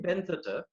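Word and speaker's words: Bentota: Is that how you pronounce it? Benthota? Yes, I stayed in Benthota.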